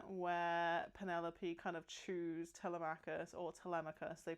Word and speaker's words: Telemachus: Uh there's a particularly great scene where Penelope kind of chews Telemachus, or Telemachus, they pronounce it like Telemachus in the film.